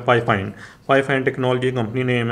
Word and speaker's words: FIFINE: तो company name है जो मेरे ख्याल से जैसे इसको प्रोनाउंस करना चाहिए वो है फाइफाइन।